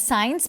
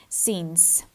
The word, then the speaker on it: since: And since, recuerden por favor la pronunciación correcta para esta palabra, no es science porque se puede confundir con ciencia, science, y bueno, la pronunciación correcta para esta palabra es since.